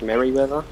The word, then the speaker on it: Merryweather: It's pronounced Merryweather.